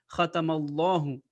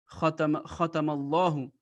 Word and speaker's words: ختم الله: So it means that the name of Allah will be pronounced with a thick voice. Khatamallahu. Khatamallahu ala qulubim.